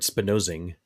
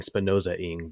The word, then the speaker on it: Spinozing: And just so actually I get an excuse to correct my pronunciation of the word Spinozing. I was saying Spinoza-ing before.